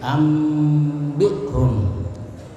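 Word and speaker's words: أنبئهم: Ya, cara membacanya itu dengan menyuarakan nun sukun atau tanwin menjadi suara mim. Jadi nunnya itu ditutup mulutnya seperti membaca mim sukun, ya, dan dengan merapatkan bibir serta mendengung. Ya, jadi ambihum.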